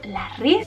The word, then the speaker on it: La Rive: de fragancias que tenemos os recuerdo que se pronuncia la riz y bueno contadme por